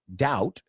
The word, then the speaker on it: doubt: in my heart now there is no doubt pronunciation not doubt doubt there is no doubt you're in my heart